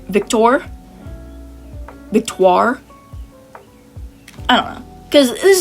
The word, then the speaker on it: Victoire: when I was reading, I was calling her Victoria, which is definitely not her name, but, like, that's just how I mentally pronounce her name, but Victoire. We'll go with that.